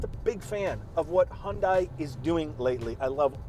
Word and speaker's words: Hyundai: We say it right, Hyundai. Because in our area, because yes. in the United States, our friends to the south, they say it's Hyundai. But in Canada, we say Hyundai.